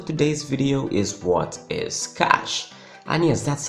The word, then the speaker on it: cache: Hey guys, Brain here, and the question for today's video is what is cash? And yes, that's how you actually pronounce the word.